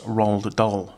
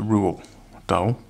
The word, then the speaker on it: Roald Dahl: part work today it's roll the doll they or as the name is supposed to be pronounced is a rule Bowl apparently but yeah I don't